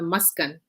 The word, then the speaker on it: Maskan: pronounce it uh the the right pronunciation is uh maskan so muskan is derived